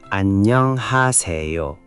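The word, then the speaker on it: 안녕하세요: The double nieun in annyeong creates a longer n sound. It's not annyeong, it's annyeong with the n held slightly longer. One more time? Annyeonghaseyo.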